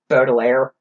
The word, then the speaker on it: Baudelaire: Baudelaire.